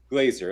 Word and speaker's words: Glazer: you are hi did i say your last name correctly glazer okay yeah i i had a a friend that had the same last name and pronounced it glass or glazer i know there's a different way there good it's good to